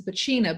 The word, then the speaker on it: Bacina: And just so I'm pronouncing your name correctly, it's Bacina, but it's spelled Bacina for people listening who can't That's see correct.